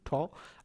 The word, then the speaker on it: tau: Okay, T, here it is tau, can be pronounced as TU, tau.